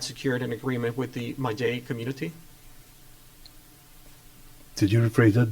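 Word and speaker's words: Mallay: Let's move on to Malay plant. Okay, Mayay, sorry. Yeah. How do you pronounce it? Mayay.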